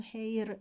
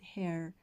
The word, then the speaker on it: hair: بچه hair دقت کنید اینو hair تلفظ نکنید، hair مثل chair.